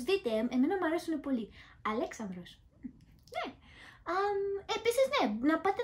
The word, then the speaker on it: [Alexandros]: Ήθελα να σας το πω γιατί ναι, έχουν το όνομα Αλέξανδρος και μάλιστα με την προφορά την ελληνική.